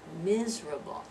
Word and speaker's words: miserable: I'm feeling miserable today right and I'm feeling miserable one two three three syllables miserable maybe this one you're not use